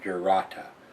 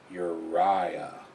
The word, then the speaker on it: Jurata: written on the bottle and they've got a pronunciation ur ur urah not jata urah urah or urata urata it's not English is